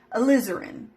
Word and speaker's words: alizarin: right because this is this is how you pronounce it because I got on I Googled it alizarin alizarin Crimson alizarin yeah that's right that's that